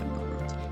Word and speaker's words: Marud: That's how you say it, Marud. M-A-R-U-D, Marud. Like, you're rude.